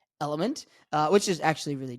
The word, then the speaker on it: LMNT: say horrible marketing because it's spelled l m n t and pronounced element uh which is actually